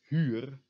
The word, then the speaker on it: huur: So you say E, and around the lips, U, E, U, U, U. Remember how to do that because it will be important later. So these words will be pronounced huur and huren.